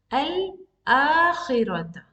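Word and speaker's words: الآخرة: So now I'm going to pronounce this al-akhirata. I'm not skipping it. I'm pronouncing it since it is starting a sentence.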